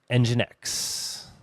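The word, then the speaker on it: nginx: Ng I inx is pronounced engine X.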